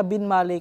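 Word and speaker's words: Binmaley: inyo yung Barangay pagka Bin malay kasi ang ang bigkas ng mga tao dito matigas e panggalatok Bin Malay B malay Parang ganon Mga Master so correct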